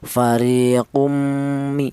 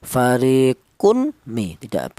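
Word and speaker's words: فَرِيقٌ مِنْ: Fariqumi seperti itu. Kum seperti itu ya idgham. Tidak boleh tanwin ini dibaca izhar atau jelas. Seperti contoh fariquun mi karena apa?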